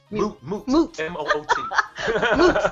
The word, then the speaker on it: moot: then guess what it's my new is that how you say it menu my new when it doesn't mean anything mute m-o-o-t and it's moot if you are arguing